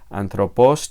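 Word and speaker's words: ἄνθρωπος: es el político y su acento recae sobre la segunda sílaba de anthropos y se lee anthropos tease todo junto bueno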